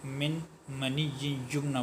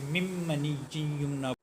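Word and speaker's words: مِّن مَّنِيٍّ يُمْنَىٰ: منی یمنا پڑھتے ہیں۔ من یہ نہیں ہے، یہاں نون جو ساکن ہے اس کو نہیں پڑھا جائے گا، پہلے میم کے بعد جو نون آ رہا ہے اس پہلے میم کو دوسرے میم کے ساتھ ملا کے مم منی یمنا، یعنی اس کو من نہیں پڑھیں گے، نون کن کا تلفظ نہیں ہوگا۔ مم منی یمنا، نون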